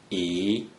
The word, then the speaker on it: 一: According to the rule that you just learned, a single-digit 1 without any other digits in the third green circle is pronounced 一.